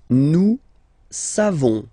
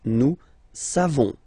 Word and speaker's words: savons: Nous savons. So classic ending for nous, O-N-S. You don't pronounce the final S. Nous savons.